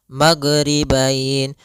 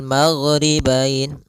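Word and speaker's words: ٱلْمَغْرِبَيْنِ: Kemudian di sini huruf ghain hati-hati dalam pelafalannya jangan sampai memantul. Jangan maghribain warabbul maghribain sampai dia memantul. Ah karena huruf gin tidak ada sifat qalqalah, tidak ada sifat pantulan.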